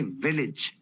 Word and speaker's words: village: नहीं, विलेज, विलेज। अभी समझ लीजिए ए नहीं है, आई है, विलेज।